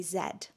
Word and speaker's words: Z: Please note that when I sing Z, this is Americanized so that it rhymes with the rest of the song. But in the UK, we say zed.